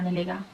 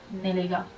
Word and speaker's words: Nelega: fi întâmplat de Alina Nelega. Why did I say it like that? Nelega. But that book is not available in English.